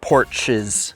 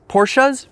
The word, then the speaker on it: Porsche: it's kind of a given that i love porches porchas porsches porch porsche that's how you say it right